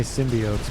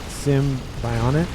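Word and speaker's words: Symbiont: there one says Sim I can never say it right I always want to say symbiotes but Sim Bion s y m ion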